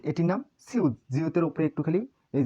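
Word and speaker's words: 지읒: এটির নাম জিউত। এই বর্ণের উচ্চারণ জিউত।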